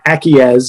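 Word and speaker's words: ACIES: to uh you can acquiesce is the the pronunciation of the stack it's a c i e s it trades under the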